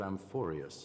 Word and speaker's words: Amphorius: I have never heard of Amphorius, however. Amphorius. That's how you pronounce it, Amphorius.